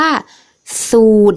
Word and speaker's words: สูตร: อยู่ หลัง ตัว สะกด แต่ ว่า เวลา อ่าน เรา จะ ไม่ อ่าน ออก เสียง เรือ นะ คะ อ่า ดัง